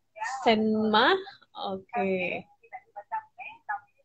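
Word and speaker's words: 什么: Jadi bacaannya itu tulisannya itu SHENME ya. Senma.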